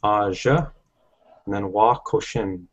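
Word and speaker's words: ajawakoshin: Aja, and then wa koshin.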